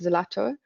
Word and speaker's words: ZLTO: And it made me think also of the platform that they have called Zlato, which is spelled ZLTO, and it's an app also based